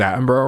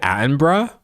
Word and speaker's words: Attenborough: Oh, it's like bruh. It's like bruh. It's literally like bruh. David Attenborough?